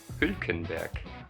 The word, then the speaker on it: Hülkenberg: It's with a U and the two dots, so in German it's called an U. So Germans would say Hülkenberg.